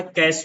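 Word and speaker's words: cache: देखिए इसका जो प्रोनाउंसिएशन होता है वह होता है कैश मेमोरी।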